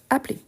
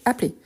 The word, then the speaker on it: appeler: C'est vrai, on ne le prononce pas, mais on doit l'écrire.